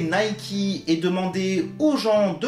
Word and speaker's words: Nike: la marque et préciser qu'on prononce bien nay qui concernant ce sujet je